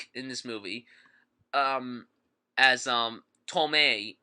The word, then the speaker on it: Tomei: this movie um um tomei even though it's spelled Thomas arm the performances in